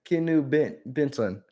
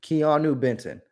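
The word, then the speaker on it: Keeanu Benton: this foreign okay the Steelers picked it picked kinu Benson I'm confused though and I keep saying his name wrong it's key key I'm almost at it wrong there Keanu Benton that's nuts and I feel like ESPN might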